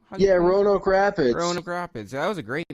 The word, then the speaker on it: Roanoke Rapids: youtube or something that was in uh rapids royal oak rapids is am i pronouncing it correctly yeah roanoke rapids rapids that was a great match but like